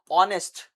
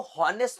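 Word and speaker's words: honest: ऑनेस्ट इसमें जो एच होता है ये ध्यान रखना। जब भी ओ से पहले एच आता है तो एच हमेशा साइलेंट होता है।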